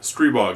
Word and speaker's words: Stribog: episode 36 we're talking about the grand power stre bog because I'd like to set the record straight on a few things first off the name stre bog that's how it's pronounced I've asked the inventor stre bog is